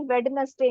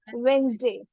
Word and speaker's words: Wednesday: Similarly वेडनेसडे नहीं होता guys, it इज वेंसडे, Yes.